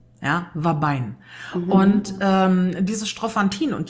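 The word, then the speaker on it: Ouabain: Da wird das zum Beispiel so geschrieben, OU, also Otto, Ulrich, Anton, Bertha, A, Anton, Ida, Nordpol, wird aber ausgesprochen Wabein. Ja, Wabein.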